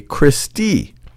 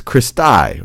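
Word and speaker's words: cristae: one of them you would call that a Christy Christy sometimes I've seen the pronunciation of this is Christy Christy or Christy that's plural for crista these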